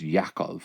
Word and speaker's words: Yaakov: play with that like it's actually pronounced yaakov or something like that y-a-c-o-v so yaakov Israel